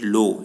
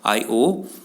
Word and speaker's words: Io: It is not pronounced as Lo. It is pronounced as Io, Deimos, Europa, Luna.